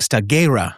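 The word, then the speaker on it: Stagira: He was born in 384 B.CE and it's pronounced in Greek staggerra, which is a place in northern Greece.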